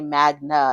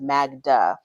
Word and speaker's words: Magda: So the producers kind of get on him, like, why do you say Magna instead of Magda?